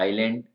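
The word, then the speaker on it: island: है द्वीप आइल ये दो तीन तरह से स्पेलिंग है आइलैंड द्वीप आइल गलियारा और नेक्स्ट है यह वाला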